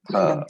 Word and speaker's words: फल: Phala. Right. So please remember that in Sanskrit, that particular alphabet is not Fa. Fa is the Hindi pronunciation. The correct pronunciation is Pa.